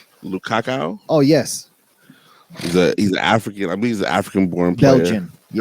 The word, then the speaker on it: Lukaku: Romelu, is that how you pronounce his name? Lukaku?